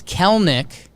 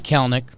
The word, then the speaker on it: Kelenic: And then it's Kelenic, but it's spelled Kelenic. It looks like Kelenic, but you don't pronounce the second E. So Gerrit Kelenic is a center fielder, lefty, 21 years old.